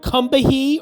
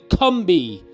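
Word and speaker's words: Combahee: name and that river is the Cumby River it's spelled c-o-m-b-a-h-e-e so it looks like kambahi or kambahay but it's actually cumbi is the way it's pronounced interesting uh the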